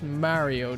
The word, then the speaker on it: Mario: As an Italian, I hate the way Americans say Mario. Mario. It's Mario, dude.